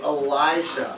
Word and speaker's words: Elisha: It's Elisha.